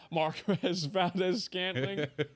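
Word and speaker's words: Marquez Valdes-Scantling: Marquez Valdez Scantling.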